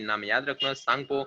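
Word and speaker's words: Tsangpo: और फिर उसके मतलब 3 नाम है, 3 नाम याद रखना, सांगपो, टी साइलेंट करना है, जैसे पढ़ना होगा पढ़ो, ठीक है।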